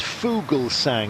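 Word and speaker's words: Fuglsang: Twitter and said um his name is Fugal sang it means bird song can you please pronounce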